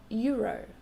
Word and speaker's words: euro: It's the same sound for euro, a euro. It's a Y sound, not a.